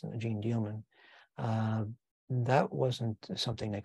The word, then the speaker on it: Jeanne Dielman: as being very important Gene dealman and I mispronounced that I call it Gene deal it's Gene dealman uh that wasn't something